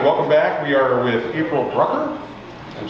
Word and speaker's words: Brucker: uh with us today april brucker sounds like hucker and i said it wrong okay well but whatever